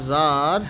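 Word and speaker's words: Tsar: উচ্চারণটা জার was very glad to have made piece with his enemy, finish.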